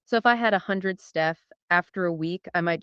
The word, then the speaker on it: stETH: That is pronounced stETH, short for staked ETH.